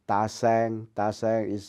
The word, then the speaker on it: Tasaeng: Ta Sang is spelled Tasaeng.